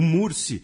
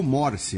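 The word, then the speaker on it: Mursi: xadrez herbal na época o murci ele foi ou morci né tem as duas pronúncias ele foi o primeiro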